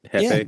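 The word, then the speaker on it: Jefe: Joey is J E F E Hefe.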